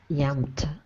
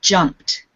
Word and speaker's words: jumped: Yamped. The first one. Okay. Remember to pronounce the J in English. So it's jumped. Jumped. Jumped. Yes.